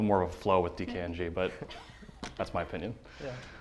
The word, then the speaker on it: DKNG: this is awesome so we're dkng which stands for initials it's basically me dan colgan nathan goldman pretty simple don't try to pronounce it as a word so it's a